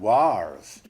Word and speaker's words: wars: Did you notice that he's pronouncing the r because he was rhotic? The dropping of the r in between vowels wasn't a thing in the Middle Ages.